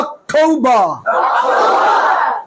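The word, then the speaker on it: October: September September অক্টোবর অক্টোবর অক্টোব না টৌ এর জায়গায় হবে ঠৌ অক্টোবর অক্টোবর November November November না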